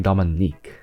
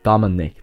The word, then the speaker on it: Dominic: keeps getting comments saying why are you saying Dominique yeah Dominic that's how you say it 4357 another one in